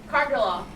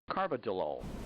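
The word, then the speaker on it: carvedilol: Cargilol. Actually, it's pronounced Carbidolol.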